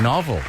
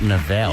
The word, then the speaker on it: novel: Novel, not novelle.